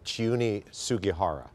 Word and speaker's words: Chiune Sugihara: Her name is pronounced Chione Sugihara. It's a he, his name. Chione Sugihara, right.